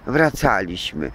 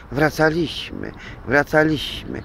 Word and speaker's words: wracaliśmy: I tak siostra pięknie mówiła, ten akcent na trzecią sylabę od końca dawała. Rozmawialiśmy, biegaliśmy, fruwaliśmy, wracaliśmy. Natomiast warszawiak powie w Lechodupstwie wielkiej 3-milionowej Warszawy, łacina blues, wracaliśmy. A tak się nie powinno w ogóle mówić, bo to już naprawdę jakieś prostactwo.